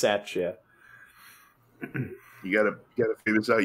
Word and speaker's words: Satya: be 25 i can't tell mayor madison wisconsin satya rhodes conway since 2019 this is a wig that's her name yeah that's named jake who's got a mayor named jake jake sacha okay apparently it's pronounced satchet you gotta figure this out you live there